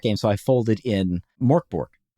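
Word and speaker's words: Mörk Borg: So I folded in Morborg. Yeah. That's where you use the Doom Clock and stuff. Morbbori. Yeah. Or Yeah. To use the proper pronunciation.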